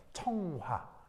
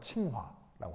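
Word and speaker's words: 清华: 청화. 중국 발음으로는 칭화라고 하는 그 청화대를 만든 거예요.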